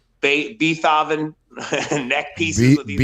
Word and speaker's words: Beethoven: 90s, but they all had like those like Beethoven neck pieces with these like, Beethoven.